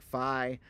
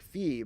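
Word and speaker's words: phi: is pronounced multiple ways the modern way is more like fi but it's originally was pronounced more like fee but here's the thing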